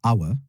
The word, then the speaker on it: hour: Après vient hour, hour, hour. Je prononce avec un H muet.